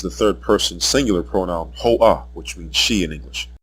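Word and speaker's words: היא: third person singular pronoun hoah which means she in English the vowel letter ah is heard at the end because the word is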